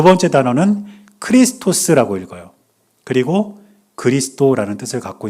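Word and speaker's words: Χριστός: 그런데 저 단어가 어떤 뜻이냐면 첫 번째 있는 단어는 예수스라고 읽습니다. 뜻은 예수란 뜻이에요. 두 번째 단어는 크리스토스라고 읽어요.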